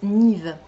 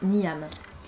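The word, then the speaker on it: Niamh: est très joli et qui en réalité se prononce Nive donc rien à voir avec niam bref donc ça m'a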